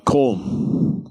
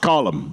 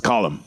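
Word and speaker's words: Colm: had to say uh colem I hate it cuz it's pronounced colum you know it's an Irish name it's not colem it's column and I said that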